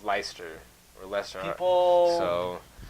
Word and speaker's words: Leicester: i s t e r correct and it's ler or ler so mispronounced it all the time it's leester City and one this is one of the